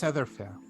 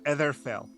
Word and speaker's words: Etherfell: The name is Etherfair. I think I just mispronounced it because I'm so nervous. Go, do it. Say it again. Yeah. Say it again. Etherfell. Etherfell. My name is Etherfell.